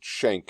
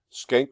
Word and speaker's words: Schenck: You can pronounce it Schenck if you want, but Schenck v.